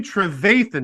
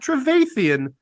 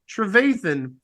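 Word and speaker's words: Trevathan: Okay, so Danny Travathan, not Travaththeian, Travathan tweeted, "It's year seven, fellas.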